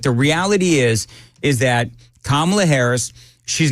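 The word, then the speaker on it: Kamala: Donald Trump and not camela Harris oh snap not only does he come out and he supports Donald Trump but I think he was mispronouncing her name oh everyone I'm sure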